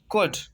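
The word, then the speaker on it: could: COUD, कुड, कुड mean सका। COUD, कुड। एल जो है साइलेंट है।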